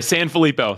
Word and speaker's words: Sanfilippo: Mark it's it's so great to be here San filipo so San filipo man I hope that something we just did